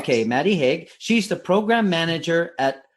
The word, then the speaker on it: Maddie Hague: I hope I'm pronouncing your name right. Is that right? You are. Yeah, that's correct. Okay, Maddie Hague.